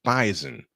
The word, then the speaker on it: Bison: I said it right the S is pronounced like a z bison in a thriller last